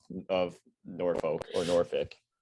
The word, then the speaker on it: Norfolk: Like, what is the correct pronunciation of Norfolk or Norfolk? As far as I know, it's Norfolk, uh, similar to Suffolk, but I've heard a million different pronunciations.